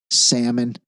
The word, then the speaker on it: salmon: If we do this, we might as well pronounce the L in salmon.